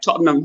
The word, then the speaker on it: Tottenham: No, there's a guy who's I don't know how you pronounce it, but can you pronounce Tottenham Hotspur for me, please? Tottenham Hotspur. It's Tottenham.